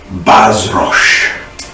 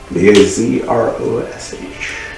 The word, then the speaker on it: Bazrosh: It says noble one of the skies, Bazrosh. That's B-A-Z-R-O-S-H. Bazrosh. Wait, how did you spell that?